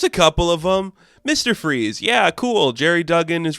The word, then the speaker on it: Fries: Freeze and his name is actually freeze but it spelled like fries it's awesome the problem